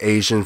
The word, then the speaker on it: Aesion: Alright guys, I want to thank AESION for coming out here, and yes, that is how you pronounce his name, so don't fucking say anything about this.